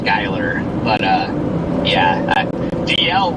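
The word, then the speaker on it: Schuyler: I looked at it and thought it was Schugler but Skyler. Interesting. No it's not Skyler. I think he's lying. Yeah the U. Just ignore the U.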